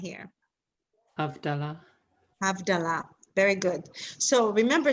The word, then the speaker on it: Havdalah: Havdalah, which is wrong. It's actually Havdalah. That's the correct.